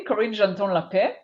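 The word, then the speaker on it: Karin Genton-L'Epée: And Karin, hopefully I'm pronouncing your name properly, Karin Genton-L Epée.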